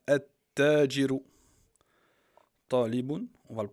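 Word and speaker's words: التاجر: Tajiru, le commerçant, on le prononce comme ça, At-Tajiru.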